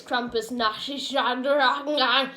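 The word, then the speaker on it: Krampusnacht: That's it, Krampus Night, but it's not spelled N-I-G-H, it's spelled N-A-C-H. Weirdly. Nashed. Nashed. Basically, it's Krampus Nash.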